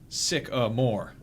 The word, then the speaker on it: Sycamore: Sycamore is pronounced sick-a-more.